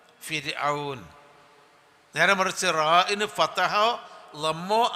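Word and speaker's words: فرعون: ഫിൽ ഫിർഔൻ റാഇന് കസറോ റാഇന്റെ മുമ്പ് കസറോ ആണെങ്കിൽ റാ എന്നതിനെ ഉച്ചരിക്കേണ്ടത് ര എന്ന ഉച്ചാരണത്തോട് കൂടിയാണ് നമ്മളെ യാ ര ലാ വ എന്ന് പറയില്ലേ ര രാൻ രാപകൽ ആ അക്ഷരമാണ് റാഇന് കസറ ആണ് അല്ലെങ്കിൽ റാഇന്റെ മുമ്പ് റാഇന് സുക്കൂനും മുമ്പ് കസറും ആണെങ്കിൽ അതുകൊണ്ട് ഫിർഔൻ എന്നാണ് പറയുക ഫിർഔൻ നേരെ മറിച്ച് റാഇന് ഫത്തഹോ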